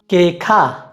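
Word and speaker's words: queja: से मिलता जुलता है, तो अगर हम कु, ऊ और ए को साथ में जोड़ेंगे तो यहाँ पर भी हम ऊ का उच्चारण नहीं करेंगे, हम सिर्फ कु और ए को साथ में जोड़कर उसका उच्चारण करेंगे।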